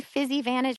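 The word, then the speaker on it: Physivantage: a discount on any fizzy Vantage product by going to fizzy Vantage C fizzy Vantage is spelled p h y SI i v n t a g so like physical Advantage fizzy advantage and use my code Heather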